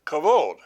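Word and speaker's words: כבוד: I pronounce that and you're coming up with something that sounds a lot like kavod well that's because that's the way it's pronounced is cavod but what is cavod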